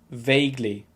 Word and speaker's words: vaguely: and with this one i've heard some people say it like vaguely but it should be pronounced vaguely vaguely i'm vaguely offended by